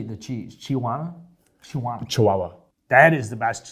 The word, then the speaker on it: chihuahua: melted cheese how do you say the cheese chihuahua chihuahua that is the best cheese the cake